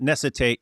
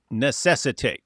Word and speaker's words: necessitate: It's not necessitate, it's necessitate.